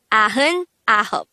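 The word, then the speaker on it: 아흔아홉: So, 99 is actually pronounced as a-heun ahop.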